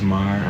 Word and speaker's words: Mar: so my name is marah I pronounce it I just pronounced it hello cuz